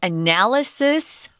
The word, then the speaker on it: analysis: So analysis and analyze. We have the strong syllable on different syllables in those. Sorry about that. Analysis, second syllable.